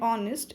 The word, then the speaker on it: honest: So the consonant H at the beginning of our and honest is silent.